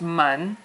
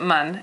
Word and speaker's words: 们: So this is mun, and mun doesn't really have a tone.